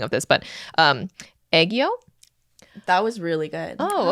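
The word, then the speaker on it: 애교: Okay, so sorry, I'm gonna butcher the saying of this, but aegyo.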